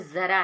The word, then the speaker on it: ज़रा: फिर नेक्स्ट देखेंगे जरा, जरा मीन्स होता है बुढ़ापा, और देखिए यहाँ पे ज़रा है, ज़रा मतलब नीचे बिंदी नुक्ता लगा है, तो उसको हम ज़रा प्रोनाउंस करेंगे।